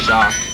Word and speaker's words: Jacques: But back as a kid, I thought it was pronounced Jacques, but you know I didn't know it was French, so it's pronounced Jacques.